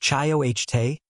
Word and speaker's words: chayote: Number seven, chayote. If there is a single vine on this entire list that qualifies as an absolute production machine, it is this one. Chayote, pronounced chah-yoh-tay, botanical name Sechium edule,